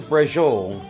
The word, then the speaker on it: Braciole: We're actually going to be making Italian Braciole. So it's spelled Braciole, B-R-A-C-I-O-L-E.